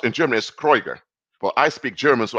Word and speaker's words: Krueger: Krueger is pronounced in German as Kreuger.